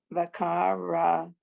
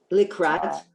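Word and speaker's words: לקראת: Lakara. Likrat, likrat, Lekar likbrach.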